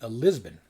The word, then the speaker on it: Lisbon: Here I have this a box set called Lisboa Under the Spell, which means, of course, Lisboa is how you say Lisbon.